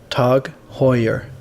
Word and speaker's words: TAG Heuer: swipe at Apple before we start it is pronounced tug Hoyer here we go the rumors are now confirmed